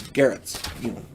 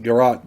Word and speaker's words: garrote: Slings can also double, and if you decide to, slings can also double as garrots, choking cords kind of thing. Garrote, I think it's called. I've heard it pronounced garrote, garrot, whatever.